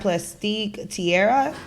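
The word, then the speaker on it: Plastique Tiara: and it was such a Vibe they had plastique Tierra is how you pronounce her name absolutely beautiful by the way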